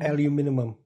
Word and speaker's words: aluminium: and other exotic materials I love the way they say aluminum in Europe Alum aluminum I found out on Jeopardy they have an extra vowel in it the way they spell